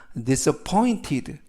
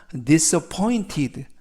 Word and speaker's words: disappointed: 이때 단어가 약간 긴데 강세가 포에 있습니다. 그래서 disappointed 라고 발음하시면 좋겠고요. 이때 diso 할 때 스 발음과 발음이 연음이 돼서 diso 그래서 disappointed 라고 발음하시면 되겠고요.